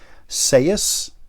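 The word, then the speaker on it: Ceus: by a guy named Rob Sayus is how I believe his name is pronounced. It's C-E-U-S.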